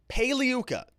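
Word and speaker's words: Pagliuca: meninger and we have jeffrey paliyuka the g is silent lawyers for glenn maxwell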